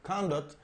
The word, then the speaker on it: conduct: palabra conduct Okay cond conduct puede ser utilizada como sustantivo y se pronuncia cond la fuerza de la pronunciación el estés se cae en la primera sílaba c Okay y lleva